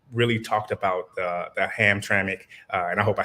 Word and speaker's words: Hamtramck: and you did say it right it is hamtramck well done uh but now we call it